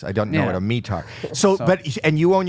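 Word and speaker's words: METAR: visibility a mear yeah are you pronouncing that wrong is it not meter no it's mear it's called AAR it's an an acronym meteor meteorological blah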